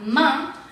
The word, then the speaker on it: main: Aquí nuevamente tenemos AIN, entonces se pronuncia main.